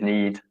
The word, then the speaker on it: knead: And pronunciation is need, as in need. Need. N-E-E-D. Need. Yeah, homophone.